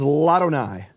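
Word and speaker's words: לַאדֹנָי: La Adonai becomes Ladonai. And what happens is the vowel drops from the aleph, and the aleph is silent.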